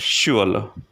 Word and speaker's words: Schule: You will simply pronounce like the word sip, sip. And in German, we have the word Schule, Schule, Schule, which means school.